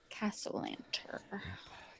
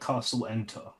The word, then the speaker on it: Castellanter: Castellanter. Castellanter. Not like Castle Enter.